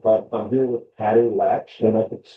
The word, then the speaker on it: Latch: I'm here with Patti Latch. Am I pronouncing that correctly? Yep, just like a door Aw- latch.